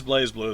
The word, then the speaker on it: BlazBlue: It's actually it is BlazBlue though apparently. BlazBlue. Do you know how I know it's pronounced that way? Because there was like a stupid chibi version made for the DS that I was on there. And it's pronounced. It's named BlazBlue with BLAYZ blue. I was like Blaze.